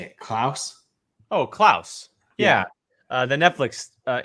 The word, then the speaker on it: Klaus: uh how do you say it klaus oh klaus yeah uh the netflix uh animated film netflix